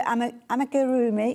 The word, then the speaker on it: amigurumi: So whether it's your amigurumi, I can never say it right.